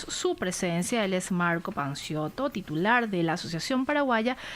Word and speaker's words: Panciotto: Creo que pronuncia mal tu apellido, ¿cierto? Panciotto. Así es, yo le iba a decir Panciotto, ahí como a lo italiano, pero está bien, Panciotto.